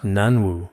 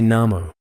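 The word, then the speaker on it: 南無: Since it's clearly pronounced Nanwu, why do we say Namo? But as for this Namo, in these days in our Chinese dictionaries, it's almost all pronounced Wu. But in ancient times, this character could also be pronounced Mo, including some modern Minnan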